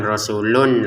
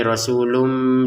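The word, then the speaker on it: رسولٌ: Sehingga cara bacanya bukan rasulun lagi tapi rasulum disertai samar.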